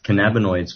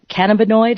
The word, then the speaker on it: cannabinoid: the using they can cannabinoid is that how you say it which is a molecule okay uh well yes principally that that's the